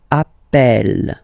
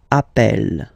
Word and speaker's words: appelle: So when you get this E vowel, and then you get a double consonant, and well, they are the same, then it does change the pronunciation of E.